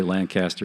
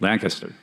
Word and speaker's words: Lancaster: to pronounce this wrong I always say Lancaster but it's not it's lancast Lancaster right you lived in Pennsylvania